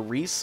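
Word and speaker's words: Rhys: that but who knows it's actually pronounced similarly to the old healer from the first Fire Emblem game who conveniently is also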